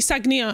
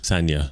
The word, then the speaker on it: Sagnia: sure katie sangier said we've been saying katie sagnia and i think i'm to stay but apparently it's katie well sanya sanya that's how you pronounce it but i'm going to